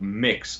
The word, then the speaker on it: Mx: mix breast sick seriously MX as opposed to Ms pronounced mix Bres ik and she's